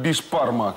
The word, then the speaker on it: бишбармак: татарского блюда, которое называется бишбармак. Бишбармак. Национальное татарское блюдо сегодня в Смаке. Давайте похлопаем. Так, для того, чтобы приготовить бишбармак, кстати, я сам произношу это как бишпармак.